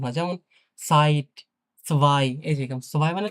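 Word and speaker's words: Zeit: উচ্চারণ হয়ছ কিছুটা কিছুটা স বা দন্তস এরকম উচ্চারণ হয় যেমন সাইট এইযে সোভাই মানে তো দুই হ্যা সাইট মানে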